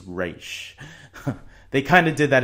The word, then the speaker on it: Ra's: later someone will say Roz and then it's actually it's pronounced race they kind of did